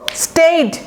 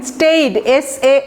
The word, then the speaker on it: staid: স্টেইড, উচ্চারণটা দেখেন, স্টেইড, STAID, স্টেইড। এই এর জায়গায় একটা টান দিবেন।